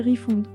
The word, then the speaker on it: refund: Refound prononcer refund.